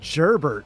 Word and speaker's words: Gerbert: me Z for sure it's a soft G it's gerbert gerbert that's it is gerbert